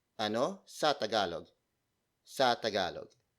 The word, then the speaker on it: ano: If you have Filipino friends who can speak Tagalog, you can simply ask them, ano sa Tagalog ang?